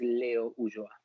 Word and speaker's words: Ulloa: The correct pronunciation is Leo Ulloa.